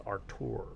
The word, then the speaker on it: Artur: I'm not gonna even try to pronounce Arthur that G. name. Arthur G. I think it's Artur. Artur? Yeah. Oh yeah, it is Oh, Artur. yeah. Yeah. Good catch. Good catch.